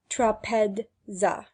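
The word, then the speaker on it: τράπεζα: Thus trapeza is pronounced trapedza.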